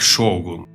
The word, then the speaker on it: шогун: правителя х До речі а як правильно вимовляти Сьогун або шогун Окей добре добре що так шогун тож в едо був